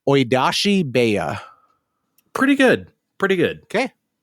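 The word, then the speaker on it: 追い出し部屋: and I'm going to give a shot at pronouncing this, and Andre can tell me why I'm wrong, Oidashi Beya. Pretty good. Okay. How would you have said it? Pretty much like that. Oidashi Beya.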